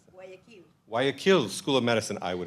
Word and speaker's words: Guayaquil: How do you pronounce that? Guayaquil School of Medicine.